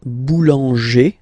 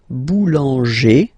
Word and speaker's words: boulanger: Okay, then we've got this group like boulanger, boulanger, ER.